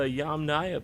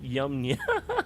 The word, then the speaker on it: Yamnaya: Okay, so the Yamnaya people, not Yamnya.